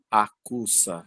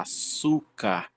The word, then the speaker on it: açúcar: som de s, então a gente não fala acusa, a gente fala açúcar.